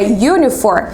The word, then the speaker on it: uniform: Quando eu pronuncio a palavra uniform, ela tem um som de Y. Se ela tem som de Y, Y é consoante.